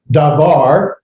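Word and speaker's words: דָּבָר: be and what we've already said is uh davar notice the difference here if you go up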